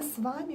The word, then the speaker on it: с вами: Hello guys, it's a video about a pronunciation of a Russian expression «приятно с вами познакомиться». «Приятно с вами познакомиться» means nice to meet you.